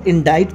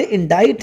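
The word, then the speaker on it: indict: लेकिन पढ़ते डेट है जैसे इस वर्ड को इनडाइज पढ़ते हैं क्योंकि ये लैटिन वर्ड इनक्टो से बना हुआ है लेकिन पढ़ते इनडाइज है लेकिन लिखते इसको आई एन डी आई सीटी ही है और यह वर्ड ज्यादातर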